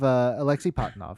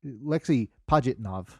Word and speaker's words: Alexei Pajitnov: You have Alexei Patanov. He was Alexei Pajitnov. I looked up possible correct pronunciations of things so that I could immediately forget them.